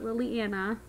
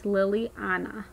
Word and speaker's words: Lillianna: So it's not Liliana or Lily, you know, Anna, like people say with country accent. It's Liliana. So Anna. Some people would spell it A-N-A, but I spell with A-N-N-A. So Anna, like a kind of a Russian version.